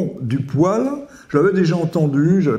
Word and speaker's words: poêle: donc voilà un mot une fois qu'on sait que c'est poil bon mais je l'entends très souvent dire poê est ce que je